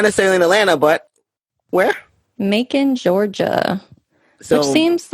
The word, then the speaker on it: Macon: say it right what you can make bacon and macon oh gosh okay i